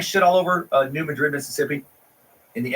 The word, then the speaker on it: New Madrid: mediocre at best and we pronounce it New Madrid because the Spanish pronunciation is too fancy for our tiny little